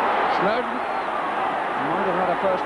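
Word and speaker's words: Snodin: he chose Everton in Snowden that's how it's pronounced although it's spelled s n o d i n Snowden as in Lord and Mountain was the way it was put to me shidi and again shidi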